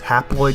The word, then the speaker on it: haploid: four these are haploid haploid kind of sounds like the word half they have half the chromosomes